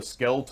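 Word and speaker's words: Scheldt: that leads to it called the skelt or Shel Estuary you'll hear pronounce both if you don't control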